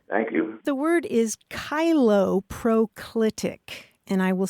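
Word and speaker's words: cheiloproclitic: now all right thank you the word is kylo proclitic and I will spell it okay yeah it's c h EI l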